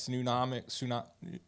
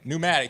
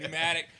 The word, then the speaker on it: pneumatic: We got a nice 6-inch by 8-inch Nunomic. I don't know how to say it. Nunomic. I don't know. You need to, with the air pressure. Pneumatic. Thank you. There we go. Thank you. Pneumatic.